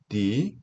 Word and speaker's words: the: for the, 모음 앞에 정관사 더는 D라고 읽죠. for the unrighteous, D라고 읽으셔야 되는 거 주의하시고요.